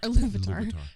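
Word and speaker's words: Ilúvatar: Iluvatar.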